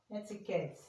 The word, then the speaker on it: etiquette: We can also see it or hear it in letter words that contain letter E t as in eticate. Etic etiquette mean this is where the sound is and you see it here and here.